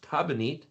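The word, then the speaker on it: תבנית: You put a tav in front and a tav in the back, and now you have the word pronounced tabanit, means pattern, paradigm, design.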